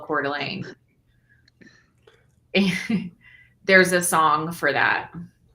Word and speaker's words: Coeur d'Alene: It's COEURDALENE. It's like that. Oh, I mean, I know how to spell it because I live in the city of Missouri called Creve Coeur.